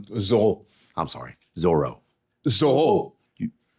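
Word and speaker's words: Zoreaux: Give it up to Zoro. Oh, it's pronounced um Zoho.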